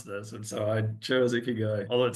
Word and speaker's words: ikigai: got these three circles and it's basically I pronounce it iy guy and my publisher went down this whole path